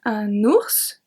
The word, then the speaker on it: ours: Now we pronounce it no matter if it's singular or plural.